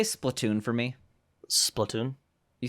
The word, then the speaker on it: Splatoon: Splatoon.